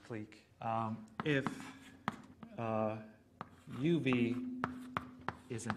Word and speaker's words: clique: some people i think some people pronounce this word click but i'm going to pronounce it clique if uh uv is